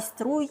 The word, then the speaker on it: Стрий: Так стрийські мене бігом виправили. Так, багато по-різному говорять, і Так. стрий, і струй, і по-різному. Насправді це складно вимовляти більше іноземцям, наші люди вже знають стрий.